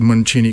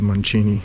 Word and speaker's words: Mancini: And yeah, I pronounce it Mancini because I'm Bulgarian and the Italian pronunciation is Mancini.